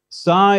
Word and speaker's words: psi: equivalent to p s psi is pronounced like the ps at the end of lips please repeat psi and